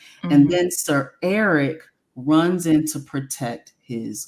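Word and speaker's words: Erryk: said that because technically their names are pronounced the same um Eric and Eric but it's just it's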